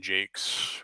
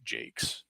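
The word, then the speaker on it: Jacques: wall books uh by Brian Jakes or Jacquees or whatever I think he pronounces the Jakes um but um and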